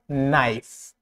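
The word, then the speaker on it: knife: Silent K এন এর আগে অথবা ওয়ার্ডের শুরুতে, যেমন নাইফ, নাইফ, knowledge, knowledge, নাইফ, knowledge.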